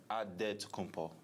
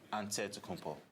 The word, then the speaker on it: Antetokounmpo: In the Nigerian way, you gotta say with a D, so it's Adetokounmpo. But in the Greek way, you say with the NT, like Antetokounmpo.